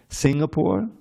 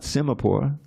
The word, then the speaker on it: Singapore: way PR pronounced it Singapore not simore Singapore right that comes from lion the lion City that's there's a lot